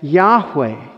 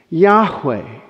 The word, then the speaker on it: Yahweh: Over time, we've added vowel pointings, A and E, to get Yahweh. Yahweh.